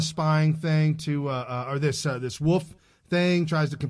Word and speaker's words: Wolfe: Then we got James Ray Wolfe. I imagine that's how you pronounce it correctly. W-O-L-F-E, not right. Wolfie. No, it's Wolf.